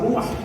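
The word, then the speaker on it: רוּחַ: traducción de la palabra ruach. Hay otra forma de transliterarlo, pero a mí no me interesa aquí la transliteración, lo que me interesa es la pronunciación. Ruach, que usted aprenda cómo se dice.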